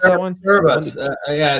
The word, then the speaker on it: Cerebras: Or how do you pronounce that one? Cerebras.